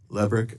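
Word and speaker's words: Lebryk: Am I pronouncing his name correctly? I believe it's Lebrick. Lebrick, okay.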